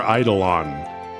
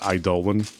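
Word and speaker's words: Eidolon: Do you guys say idollan or idolon when you see that word? Thank you, Rosa. But I know what I've become. You say Idolon. Yeah, that's what I say, too. Idolon. Okay. So, not Idolan.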